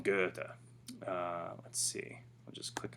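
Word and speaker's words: Goethe: um we've got uh gota so the way they pronounce that is uh this way oops right johann wolfgang von guerta let's see i'll just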